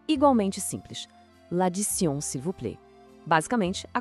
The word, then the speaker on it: l'addition: Vamos quebrar ela em sílabas para facilitar. Primeiro, lad. Depois, di. E o final, tion, que em francês tem um som que parece sion. Então, a pronúncia correta fica assim. L'addition.